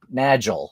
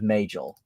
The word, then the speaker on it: Majel: FASA should be pronounced like NASA. That's what I've always thought. But then, I still hear people say Magel instead of Majel.